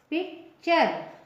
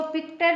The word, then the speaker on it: picture: पिक्चर, है ना, इसको पिक्टर नहीं पढ़ेंगे, च पढ़ेंगे, क्योंकि टी के बाद URE आया है, तो इसका प्रोनाउंसिएशन होगा पिक्चर, चर, च होगा, है ना।